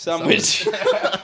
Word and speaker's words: Samwij: But not how you think sandwich is spelt. SAMWIJ. Sandwich.